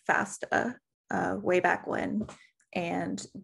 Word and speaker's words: FASTA: william pearson doesn't say sanger okay fast is pronounced fast a stands for fast all because it works with